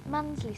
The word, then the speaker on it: Mundesley: It says Mundesley, but somebody told me the locals don't pronounce the middle bit. Mundesley seems to be the right way to say it.